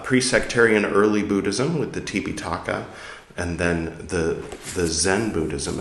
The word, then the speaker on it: Tipitaka: 8, 9, we're reading the Tipitaka, which is the original Pali pronunciation of Tripitaka, which might be more familiar to you.